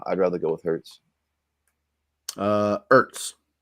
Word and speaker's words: Ertz: Ertz. Sans H, silent H on Ertz.